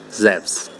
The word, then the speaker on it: Zeus: I guess at least once I can say zevs but for the rest of us who shower every day how powerful is Zeus and more importantly what does it matter well